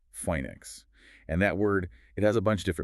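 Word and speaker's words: φοῖνιξ: That's spelled Phoanix, and it's pronounced something like phoenix.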